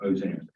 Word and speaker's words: Ozan: Ozan, is how his attorney pronounces his last name, Ozan.